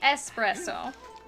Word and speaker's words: espresso: It is technically espresso without an X, but I don't care really how you pronounce it.